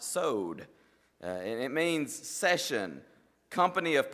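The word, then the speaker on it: סוֹד: just blown away because it looks to me like coward or something like that but I'm told it's pronounced sewed it means session company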